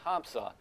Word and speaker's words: Hamza: and he said, yes, the traditional pronunciation is Hamza. But over the years, a lot of people didn't know, so they started to call him Ham. He's fine with either. But I think if you're doing it properly, you go Hamza.